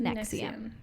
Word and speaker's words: NXIVM: even covering uh nexium nxivm is how it is spelled but it is pronounced nexium okay yeah so the